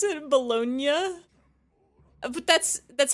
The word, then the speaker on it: Bologna: The G is silent in Italian.